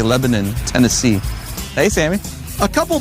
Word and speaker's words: Lebanon: Friday where are we it's spelled Lebanon but here they say Lebanon Tennessee hey Sammy a